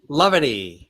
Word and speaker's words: Lovity: Lovity. Yeah, lovity. Okay. So it's love and levity put together.